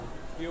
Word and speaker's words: วิว: นะ ครับ ครับ ผม วิว อ่าน ว่า วิว นะ ครับ วิว นะ ครับ เฮ้ย